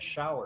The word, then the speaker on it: Schauer: To help us do just that, we have here with us today Schauer. Am I pronouncing that correctly? That is correct, Schauer.